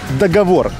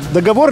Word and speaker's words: договор: Где правильно нужно поставить ударение? В слове договор. Договор либо договор? Договор. Правильно, молодец. Договор.